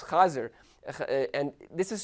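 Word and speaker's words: חזיר: Now, the word for pig in Yiddish is chazir, it's chazir. And this is spelled like the Hebrew that it comes from.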